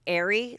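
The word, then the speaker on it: Aire: We finally know Kylie's son's name, and I believe it's going to be pronounced Airy, like stormy, and airy, and it's spelled A-I-R-E, and she showed a picture of him, and he's absolutely adorable.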